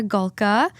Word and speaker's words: Polka: Morgan and today we are joined by Amanda gulka from swell entertainment thank you for having me